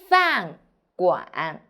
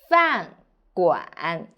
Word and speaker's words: 饭馆: 我们一起读饭馆 f an 饭 g 碗馆饭馆 So pay attention, here is 乌安湾 g 碗馆饭馆 Very good.